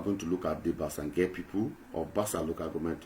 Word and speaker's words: Bassa Nge: And since we are talking about Bassange, I saw that you are pronouncing the name with some difficulties. Bassange. It's just easy, it's just simple.